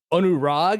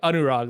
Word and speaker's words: Anurag: and names like that there are a lot of like A's that go ah so if you're ever curious like like it's my name is actually pronounced anurag like if if but